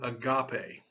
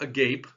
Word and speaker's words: agape: testament is the word agape now it's not a gape it's in english it's spelled a-g-a-p-e but it's not a gape it's agape and there are some others